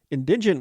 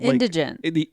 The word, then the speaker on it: indigent: Indigent means, poor. Oh. It's like the poor, like indigent. Yeah. Did I say it wrong? All about the emphasis. Okay. On the wrong syllable.